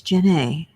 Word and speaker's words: Janae: What everybody pronounces Jean. It's not. It's Janae. Looks like Jean. Jene. But it's Janae.